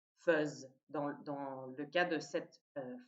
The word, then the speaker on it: fais: Ça s'écrit est, fez, mais ça se prononce, c'est une exception, feuse, dans le cas de cette forme et aussi dans le cas de l'imparfait, puisque c'est la même racine.